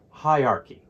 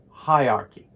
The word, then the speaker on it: hierarchy: the end of teacher the AR almost disappears it's a very weak sound and chy sounds like a key together they represent the word hierarchy so the correct pronunciation is here hierarchy once more hierarchy remember